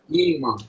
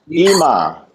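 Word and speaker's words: אמא: How do you pronounce that? Ima. Ima. Ima.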